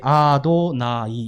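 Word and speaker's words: אדני: 그래서 이스라엘 사람들은 쓰기는 이렇게 쓰는데 뭐라고 읽는다고요? 전혀 다르게 아도나이 이렇게 부르는 겁니다.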